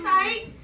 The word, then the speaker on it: cite: So how do I cite a Pebble Go article?